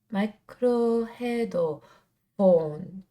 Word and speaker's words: MICRO HEAD 4N's: They started in 2011, and you're supposed to pronounce their name Microhead Phones.